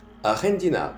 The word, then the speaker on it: argentin: Aquí la G se pronuncia J, J. Mira mi lengua. J. Mi lengua la pego arriba de mi boca. J, J, J. Argentin, argentin.